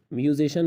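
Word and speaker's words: musician: Social, social مانا سماجی۔ اچھا میوزیشن میں آپ دیکھ سکتے ہیں کہ سی کے بعد آئی اے آیا ہوا ہے، اس لیے ہم اسے شین کی تلفظ کے ساتھ، شین کی آواز کے ساتھ ادا کر رہے ہیں۔ سوشل مانا سماجی، میوزیشن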